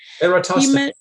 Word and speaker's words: Eratosthenes: Eratosthenes.